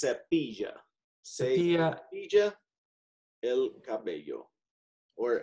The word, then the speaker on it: cepilla: Se capilla su pelo. Yeah, and so this is pronounced cepilla.